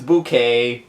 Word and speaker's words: Bucket: We have the name is Bouquet. B U C K E T. Like people like people mispronounce Bouquet's name because people thought it was bucket.